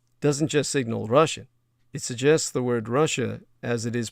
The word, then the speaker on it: Russia: When Americans say Russia, the first and second syllable rhyme.